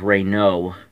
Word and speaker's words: Renault: not the correct word the correct word is Rey no so na ult is silent but when I was a when I